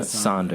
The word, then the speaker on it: Sonder: And I got What You Heard by Sonder. That's how you pronounce that? Yeah, Sonder.